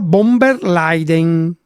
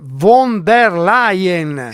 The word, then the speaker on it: von der Leyen: È un cappello europeo che mi ha dato la Ursula von der Leyen. Ancora, si dice von der Leyen. Ma io pronuncio giusto, te si ti che te sbagli.